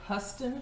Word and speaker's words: Huston: i pronounced this name it's actually huston cadillac and i always thought it was houston cadillac and they were my